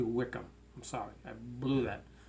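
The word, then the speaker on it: Wycombe: this team Wickham and i pronounced it white wykeham something like that it's actually Wickham i'm sorry i blew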